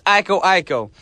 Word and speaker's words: Iko Iko: I was like, Brian, you pronounced it wrong. I did it for you guys. Making sure you're listening. It's Iko Iko.